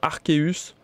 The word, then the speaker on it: Arceus: vous serez là pour m'accompagner d'ailleurs je dis arseus moi mais je sais qu'elle a qui sont team arceus alors l'a dit un commentaire ou est-ce que vous vous prononcez arseus ou arceus le nom de ce